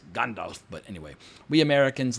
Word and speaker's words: Gandalf: It's not Gandalf, it's Gandalf.